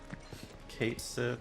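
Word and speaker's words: Cait Sith: Kate Sith is the pronunciation that was chosen. Yeah, I was just calling him Cat Sith. I feel like No time to celebrate. I feel like the I is silent.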